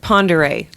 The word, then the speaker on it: Pend Oreille: Lake, how did I pronounce it? Pere. Lake Pere.